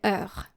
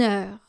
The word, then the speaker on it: heure: then you will still consider that E silent and still link une with that silent H. So, for example, une and then heure. Une heure. Une heure. So you act as if there were no H's here.